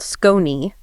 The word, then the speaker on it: Skone: Yes, we also want to shout out Skone. That's pronounced Scon.